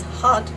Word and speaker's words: had: and then for example the same word in the past tense hot hot hot hot right like hot hot hot am I saying that right hot I think maybe the D is a little bit voiced there maybe you can tell me how it is in your dialect but I'm pretty sure it's not had had I believe that is an incorrect pronunciation in Dutch Dutch is the only